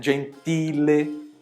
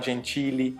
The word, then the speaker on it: gentile: Eh, gentile. Não falar gentili, né? Então, gentile.